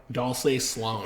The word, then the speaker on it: Dulce: Dulce Sloan. It's spelled like Dolce, but I'm pretty sure she says Dulce.